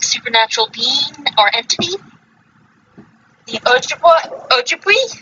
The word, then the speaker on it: Ojibwe: There are many tribes with the belief of the Wendigo, such as the Ojibwa, the Ojibwa? Ojibwa? Wait, what? Yeah, Ojibwa? That how it's pronounced? Oh, the tribe? Yeah. Ojibwe. Ojibwe.